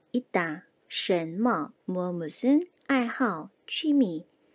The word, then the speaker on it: 爱好: 爱好, 爱好. 자, 여기에서 爱好 이렇게 삼성으로 읽는다 라고 하면 틀린 발음입니다.